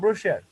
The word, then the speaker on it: brochure: ব্রোশিয়ার উচ্চারণ হবে ব্রোশিয়ার।